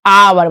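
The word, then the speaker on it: hour: जैसे क्या हो गया आवर एच ओ यू आर इसमें एच का उच्चारण क्या होगा नहीं होगा क्या पढ़ेंगे इसे आवर मतलब क्या है घंटा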